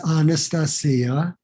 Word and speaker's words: Anastasia: it's just like that it rhymes with Maria it's Anastasia and uh in the